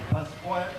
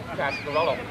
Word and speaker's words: Pasquarello: color, Vince and Liz Pasquanello. Pasquanello? Is that it? Pasquanello? Pasquarello. Pasquarello.